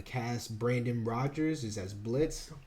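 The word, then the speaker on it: Blitzø: brandon rogers is as blitz the o is silent richard steven horvitz i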